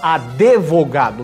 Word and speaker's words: advogado: O D não é mudo, o pessoal fala advogado, não é advogado.